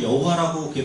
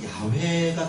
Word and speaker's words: 야훼: 여호와라고 하는 것이 우리는 여호와라고 그게 발음이 맞는 줄 알았는데 학자들이 연구해 보니까 실제 발음은 야훼가 더 가깝더라 이런 얘기예요.